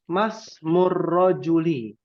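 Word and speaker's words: ما اسمُ: gampang ya rakam KH masmuli bukan Ma ISM karena ada apa namanya i di sini adalah Hamzah wasal tidak ada Hamzah tulisan hamzahnya hanya bentuknya Alif maka dibacanyai ya artinya nya siapa nama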